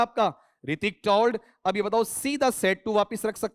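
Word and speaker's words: Hrithik: यहां बताओ एच बोला जाएगा या साइलेंट रहेगा? साइलेंट रहेगा। ठीक है? रितिक नहीं है। रितिक इतना ही है आपका ना।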